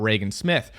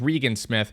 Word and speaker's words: Regan Smith: going to talk about Reagan Smith who in a previous video I pronounced as Regan Smith for the entire video